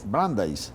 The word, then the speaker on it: Brandeis: Y María Camila es comunicadora social, periodista de la Universidad Pontificia Bolivariana, pero dígame cómo se pronuncia, la Universidad de Brandeis. Brandeis, sí.